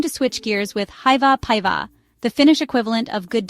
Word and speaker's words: päivää: The second word, päivää, sounds like päivää with the emphasis on the first syllable.